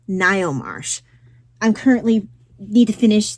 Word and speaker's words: Ngaio: It's Ngaio Marsh.